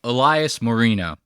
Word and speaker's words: Elias Moreno: If you're just talking to me, you know, you just say Elias Moreno. That's how you say it, like Dan Marino.